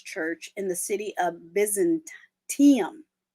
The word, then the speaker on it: Byzantium: During that time, he established an early Orthodox church in the city of Byzantium. I always want to say Byzantine. Byzantium.